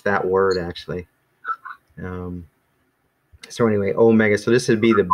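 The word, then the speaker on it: ωμέγα: little o and so this is supposed to be you're supposed to hold it a little bit longer than this one being a little bit shorter but other but other than that they're they basically pronounced the same so that's kind of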